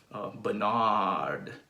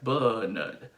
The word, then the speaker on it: Bernard: But in the UK pronunciation, you will stress the first syllable, which means that the second syllable is actually reduced to an unstressed syllable, and it's reduced to a schwa, which sounds like Bernard, Bernard, is the schwa sound.